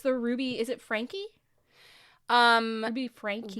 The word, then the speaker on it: Ruby: And it's the Ruby, is it Franke? Ruby Franke? Ruby Franke, yes. Yeah. It's spelled Frank, but it's pronounced Frankie, which is very confusing to me.